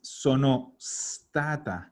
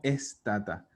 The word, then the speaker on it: sono stata: Y ojo a lo que siempre digo, la E fantasma de las palabras que empiezan con S. ¿Ah? Entonces, es sonostata, no estata. ¿Ya? ¿Qué podemos hacer? ¿Qué podemos hacer para borrar esa E fantasma? En la pronunciación, juntar las palabras. Como que fuera una sola. Entonces tú dices sonostata. Sono stata.